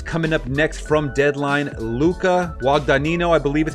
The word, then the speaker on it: Luca Guadagnino: Luca Guadagnino, I believe is how you pronounce it, is set to direct Universal's Scarface reboot.